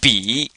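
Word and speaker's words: 笔: the number one so we just put a b before it and we come up with B but this is a third tone so we have b b b and this means pen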